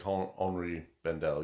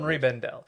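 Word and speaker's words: Henri Bendel: i b n d l yeah so like hry Bendel yeah hry Bendel uh if you're from the New York area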